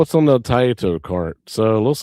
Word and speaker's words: Taito: Taito cart?